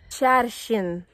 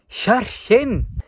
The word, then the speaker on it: Hjerkinn: Hi everybody, we're at Hjerkinn Station. No. Here, on dialect, we say, Velkommen til Hjerkinn! Hjerkinn! Hjerkinn!